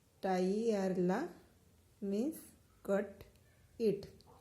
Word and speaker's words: tagliarla: Tagliarla means cut it. Here the G and L is silent. So posso tagliarla.